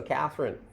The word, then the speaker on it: Catherine: pretty common in English Catherine actually pronounces her name with three syllables so Catherine if you want to